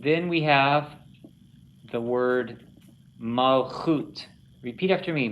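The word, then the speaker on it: מלכות: And then we have the word malchut. Repeat after me, malchut.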